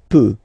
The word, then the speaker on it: peut: Je peux, tu peux, Then, il, elle, peut. So you will put T at the end, you don't pronounce it. Il peut, elle peut.